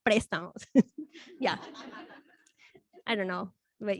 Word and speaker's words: Prestamos: They took off the accent on the E, so we're Prestamos, not Prestamos.